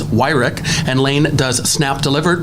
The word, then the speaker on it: Wyrick: I mispronounced his name in our previous episode, but it is Wyrick, and Lane does Snap Delivered.